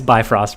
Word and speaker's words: Bifrost: destroy their sunspot uh yeah it's uh it's bifrost but because we butchered it in case anyone's new we butchered